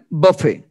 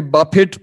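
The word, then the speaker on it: Buffett: Warren বাফে, কেউ কেউ একে বাফেট প্রোনাউন্সিয়েশন করেন, তো বাফেট না, অ্যাকচুয়ালি ওয়ারেন বাফে।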